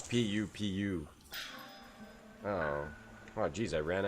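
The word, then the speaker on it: pupu: It's pu pu platter. Not poop, not poo poo like p o. It's They spell it pu pu. I think it's like an Americanized Chinese food thing. It's not poo poo. It's not poo poo like from your butt.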